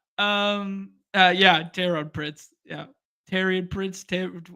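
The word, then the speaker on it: Taurean: yeah terod pritz yeah Teran pritz ter how do you say his name Teran Toran torian there you go former Laker um purle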